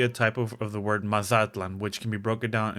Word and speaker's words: Mazatlan: And yes, I know that the Spanish way of pronouncing Mazatlan stresses the last vowel, but for this video, the original Nahuatl way stresses the penultimate, aka the second to last vowel.